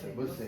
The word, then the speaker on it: Bossey: Comment on prononce Bossey. Bossey, voilà, c'est ça.